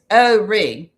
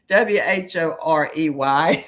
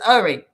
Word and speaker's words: Horry: And by the way, it's ORE, not the not the WHOREY. It sounds like people are saying all the time. Horry County is Horry County. The H is silent.